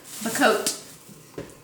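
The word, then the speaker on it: Bocote: At least I think that's how you pronounce it. It's Bacote. And not only did I get this piece of Bacote. Bacote is the proper way to say it.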